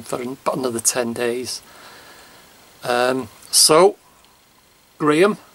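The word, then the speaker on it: Graeme: So Graham, his name's Graham, but it's spelt different to my Graham. I've got the H and he's G-R-A-E-M-E, but it still sounds the same, but Graham.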